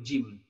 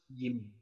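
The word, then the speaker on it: جيم: Jadi ketika pembacaan jim itu tidak boleh didesiskan, tidak boleh jim, jim, jim, jim, dan tidak boleh. Yang emang notabene bahwa jim itu bukan bagian dari huruf yang berdesis, jadi dibacanya halus jim, dibacanya benar-benar halus jim.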